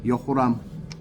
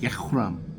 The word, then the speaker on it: 여호람: 자, 여호람. 근데 우리나라 발음은 왜 여호람이야? 내가 너무 궁금해. 이거 책 쓰면서도 궁금했지만 왜 여호람이에요? 중국 음역인 것 같아요. 이것도 야호람이에요. 야호람.